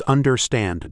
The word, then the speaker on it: understand: For understand, it's understand. Da da dum.